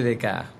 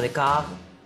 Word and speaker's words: Descartes: bien bueno es que es ahí donde aparece dec quién te lo deletreo d e s c a r t e s se pronuncia de K de francés qué abundancia de